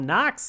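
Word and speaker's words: NOx!: a group that is called knocks that's spelled NO x exclamation point we perform with Washington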